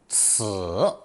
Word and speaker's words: 此: Pronounced third tone, 此, 此.